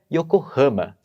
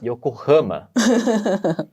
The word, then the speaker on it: Yokohama: que eu sei que em japonês não se pronuncia desse jeito como é que é meconi pode novamente para eu poder escutar direito claro eu falei Yokohama hum bem diferente né Para mim é bem